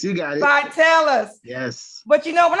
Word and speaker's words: Vitalis: Vitalis, you got it. Vitalis.